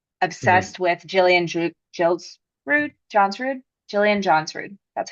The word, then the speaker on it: Johnsrud: obsessed with Johnsrud, Jillian Johnsrud.